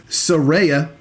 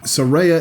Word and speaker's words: Saraya: It is Saraya, apparently. Saraya. We can't say Saraya, even though that makes more sense for a lot of people for some reason. Saraya is apparently the correct pronunciation.